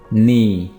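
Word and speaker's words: knee: नी, नी घुटना। यहाँ पे भी आपने के को प्रोनाउंस नहीं करना है, तो ये वर्ड होगा नी।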